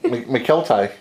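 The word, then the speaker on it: Mykelti: It looks like McKetty. There is an L there. Like spaghetti. McKelty.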